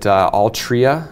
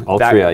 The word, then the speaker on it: Altria: Well, we were all talking about, was it Altria? I keep getting that name wrong. Altria, yeah.